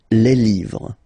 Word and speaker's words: livres: Okay, les, and then same rule, you just write livre, and then you put s at the end, but then you don't pronounce it. Les livres, le livre, les livres.